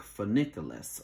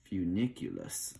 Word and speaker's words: funiculus: we call a funiculus even though it kind of looks like funiculus or for niculous um but it's few like f-y-o-o for that pronunciation for the funiculus okay and basically what